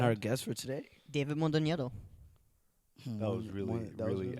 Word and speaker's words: Mondoñedo: it's like That sounded Mondoñedo. good, though. Mondoñedo. Like, Mondoñero.